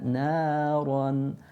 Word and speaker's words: نارا: Sayasla naran. Na, opening of the mouth, of the upper jaw going up. Naran. And again hold that for 2 harakat, or hold that sound,